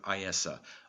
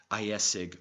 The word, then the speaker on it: Ayesa: All Celtic scholars will recognize this form of the word Ayesa, often carelessly pronounced as if written Ayesig or Hesig.